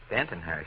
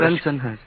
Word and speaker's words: Bensonhurst: Bentonhurst. Now you go Bensonhurst. Benton. You're a middle syllable man from the word go, aren't you?